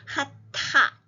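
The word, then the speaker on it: חטאת: 하만 하면 안 되고요 하 다음에 타에이 테트의 점이 있기 때문에 티티가 되기 때문에 핫 핫타 이 해야 됩니다 하타 하타 속죄제 sin offing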